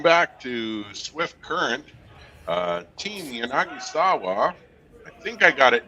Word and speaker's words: Yanagisawa: How do you pronounce his name again? Sorry, who? Yanagisawa? Yep. Yanagisawa.